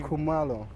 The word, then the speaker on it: Kumalo: And how do you pronounce your last name? I want to be Kumalo. Kumalo. So I've Yeah. been saying it kind of right. Yeah, Kumalo, you've been saying it right.